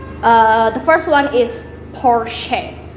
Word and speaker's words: Porsche: the first one is porsche porsche so you stress on the first letter of the word porsche so you some people